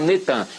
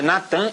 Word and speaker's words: Natan: No dia 4 de novembro de 2002, lança o nome do ex-primeiro-ministro de Al-Shorur de Israel, Natan, é Natan, eles já fizeram o sincretismo, botaram Netan, mas é Natan e Arro.